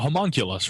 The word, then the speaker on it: homunculus: A homunculus, right.